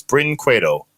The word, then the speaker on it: Brinquedo: It's two syllables. Brinquedo.